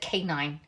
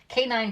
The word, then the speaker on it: cayenne: back in the day I said this word wrong and I said it K9 because it looks like K9 K9 and so I didn't know I was saying it wrong for years until I was on Periscope and we're making a soup and I said put the canine pepper in in your soup and they're like no